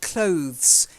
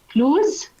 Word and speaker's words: clothes: Okay, the next word is very important, clothes. It's not clothes, clothes. Try it. Clues.